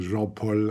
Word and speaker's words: Jean-Paul: I'm from Belgium, so I'm a bit of a mix between French and German, so that explains the Jean-Paul or and the, which is very German.